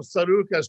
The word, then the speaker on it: Tsarouchas: You pronounce it Tsarouchas. Tsarouchas. Or Tsarouchas is what we put it.